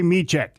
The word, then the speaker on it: Mitrzyk: and I will admit, I did butcher name in the first hour. So if you heard me pronounce it in a different way, I apologize. It is Mitrzyk.